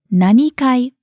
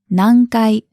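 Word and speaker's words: 何階: ask which floor nankai it's not nanikai but nangai now in the dialogue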